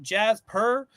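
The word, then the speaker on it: Djas Puhr: era right this is I'm gonna say the D is silent Jazz purr uh Alien Bounty Hunter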